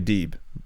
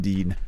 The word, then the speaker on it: Deeb: Riho, yeah, and Serena Deeb rather than Dean.